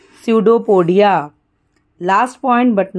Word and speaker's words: pseudopodia: amiba amiba moves using pseudopodia p is silent so it's called pseudopodia last point but not